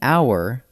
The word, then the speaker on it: hour: An hour, because the H is silent, so it starts with an ow sound.